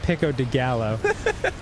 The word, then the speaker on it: pico de gallo: yeah you hate tomatoes it's pronounced first of all it's pronounced pico de gallo and secondly yes I